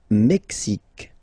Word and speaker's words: Mexique: Le Mexique. Le Mexique. Mexique. It's really the X. Huh? Le Mexique. And then remember this Q-U-E, it's only K.